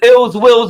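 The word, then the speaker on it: Illz Willz: him um do his thing my name is ills Wills and that's ill will with two Z's and it's spelled I LZ w i wlz on what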